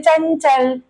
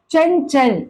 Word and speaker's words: चंचल: बोलेंगे चंचल चंचल चंचल ये चंचल प्रोनंसिएशन की दृष्टि से सही नहीं है उच्चारण की दृष्टि से सही नहीं है इसे पढ़ा जाता है चंचल ञ ञ का साउंड आना है इस पे चंचल